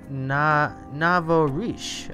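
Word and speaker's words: nouveau riche: Emma Andre says it's pronounced Navorish.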